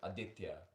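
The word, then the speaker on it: Aditya: It's spelled a d i t y a but it's pronounced adia.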